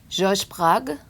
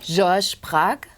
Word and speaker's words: Georges Braque: George Braque. George Braque. George Braque. George Braque? George Braque? Braque? George Braque.